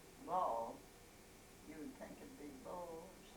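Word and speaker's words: Boll: do youell well she they spell it b o l l but it always was ball you would think of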